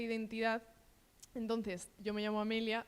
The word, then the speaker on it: Amelia: Entonces, yo me llamo Amelia. Me pasa mucho que me llaman Amalia, sobre todo cuando me conocen al principio. Entonces, bueno, creo que esa e en mi nombre, que pronuncié muy